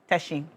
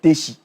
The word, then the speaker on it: Teshi: Um this season, it's a football match between Teshi and Nunga. You said it's not Tishi. It's Teshi.